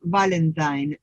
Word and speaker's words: Valentine: traducido de un antropólogo se llama valentayn valentine se escribe valentine él va lenta de